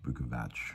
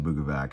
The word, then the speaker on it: Bukovac: All my Slovenian friends out there say it should be pronounced Bukovac, but my mom always said Bukovac, so I'm just gonna stick with that. She actually said Bukovac, which is weird.